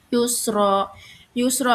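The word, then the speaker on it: يسرا: Yusro itu tajwidnya mad iwad. Alasannya karena huruf ro berharokat tanwin di waqaf. Nah, cara bacanya tanwin dihilangkan dan diganti dengan fathah serta dipanjangkan 2 harokat. Jadi yusro.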